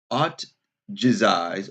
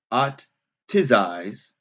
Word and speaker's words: otjize: Instead of water, they cover their entire bodies in Forgive me for the pronunciation. otjize or otjize, o t g i z e, which is a paste made from red ochre clay, butter and aromatic herbs.